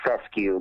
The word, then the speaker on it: fescue: be Fescue and um I happen to like to say the word Fescue because it rhymes with the word rescue okay and um if